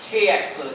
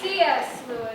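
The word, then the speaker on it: C. S. Lewis: I don't know about the rest of you, but I'd really like to know what TX Lewis had to say about time. Oh, good grief. It's C.S. Lewis.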